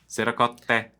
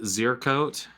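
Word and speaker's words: ziricote: You're putting the accent in the wrong syllable or something at some point. Zeracote. So you got the Zercote. I love that's how some people that we know used to say Zercote. I'm like, that sounds not right to you?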